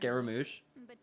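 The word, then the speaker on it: Scaramouche: So it's pronounced So it's so it's actually pronounced scaramoosh.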